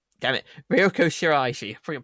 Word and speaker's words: Shiraishi: uh junya andoki and was voiced by ryoko shira damn it ryoko shiraishi from pronounced it wrong sorry and there's also a